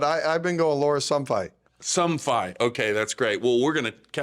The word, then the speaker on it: Somfai: players coming up here after the break here, Lara Somfai. Is that how you say her name? That's pretty close. I better get it right. Let's double check with her, but I've been going Lara Somfai. Somfai.